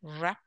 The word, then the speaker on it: wrap: Wrap. Yeah, W is silent.